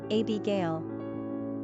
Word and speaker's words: Abagail: Quick facts on Abigail Gender - girl Origin - American Number of syllables - 3 Ranking popularity - not applicable Pronunciation - A-B-Gail Simple meaning - Father's Joy Characteristics of Abigail Sensitive, humanitarian, affectionate, family-oriented, compassionate, community-minded, loving.